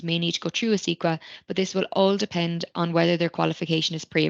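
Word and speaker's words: ACECQA: are looking for Early Childhood opportunities there is a squa is how you pronounce it and it's Australian children Education and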